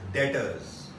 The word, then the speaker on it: debtors: B is silent over here. It is known as debtors.